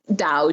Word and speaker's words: Dao: I think the way to pronounce it in a way that shows you're educated and informed would be Dao Dao and that's because that's the pinion or the way that the mainland Chinese would pronounce it the way Giles form